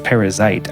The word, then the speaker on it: Perizzite: side and there's a perizzite is the way it's it's spelled p r i z z i t so it's which is interesting because it sounds like parasite which but it's parazite I wonder if there's